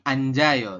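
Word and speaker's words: 앉아요: Yang berubah adalah huruf jit yang di akhir dia naik ke sini menggantikan iyang ya. Jadi di sini nih di samping vokal a. Maka berubah menjadi bunyi j.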